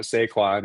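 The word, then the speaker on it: Sequans: Kuran, who pronounced it sequins. So he pronounces the S. Uh, I think if you were if you were being really pedantic about it, the French would pronounce it sequin and not pronounce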